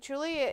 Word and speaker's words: Gulia: Vindicator's like, Julia is how you pronounce Gulia.